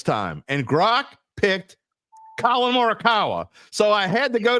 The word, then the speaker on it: Morikawa: It's the 3rd time you've mispronounced Jesus his name. Christ. It's not that hard, dude. Colin Morikawa.